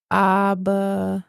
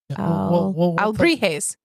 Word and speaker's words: alebrijes: It's like Albritas. Albrita, yeah. No. Albrijes. Yeah, we'll put it up on the screen, and you guys can choose how you want to pronounce it. Well, there is one way. It's the way it sounds in Spanish, Josh. This is not a say it how you want to. The Albrijes, I believe.